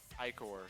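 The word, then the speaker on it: ichor: I call them peonies I could see icker being pronounced that way it's pronounced dictionary definition even by Oxford standard my feet are cold icore I mean it's pronounced i-core but I feel like it should just be icker because i-core sounds misleading it sounds like it's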